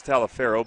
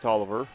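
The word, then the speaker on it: Taliaferro: Pinley finds Tolliver, whose name looks like it's Talifero, but it's pronounced Tolliver.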